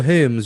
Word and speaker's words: Hermes: Yeah, not Hermes, like germs, in all.